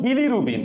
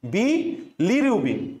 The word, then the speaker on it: bilirubin: ওই বিলিটা একবার উচ্চারণ না করে তুমি একটু মাঝখানে গ্যাপ দিবা, বি লিরুবিন, বি লিরুবিন, বিলিরুবিন। তাইলে আর তোমার ওই ডাবল এল নে পেঁচাবে না, কারণ উচ্চারণ করার সময়